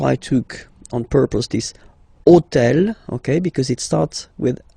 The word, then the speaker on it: hôtel: All right, and third example, so I took on purpose this hôtel, okay, because it starts with H, but remember that in French we don't pronounce H, okay, so basically the